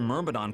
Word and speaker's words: Myrmidon: your average knight or myrmidon could also blast out some fire magic whenever they wanted. Myrmidon. Okay, so that's how you pronounce that.